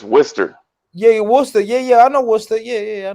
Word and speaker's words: Worcester: it looks like it's it look like it's spelled Worchester but it's Worcester yeah Worcester yeah yeah